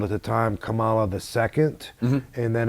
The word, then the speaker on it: Kamala: And Ben Peacock was called at the time Kamala the Second, mm-hmm. and then afterwards they just changed it to Kamara, which is, of course, the Japanese pronunciation of Kamala.